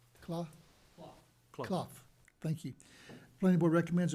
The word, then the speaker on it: Clough: Did I pronounce that right? Clough? Clough.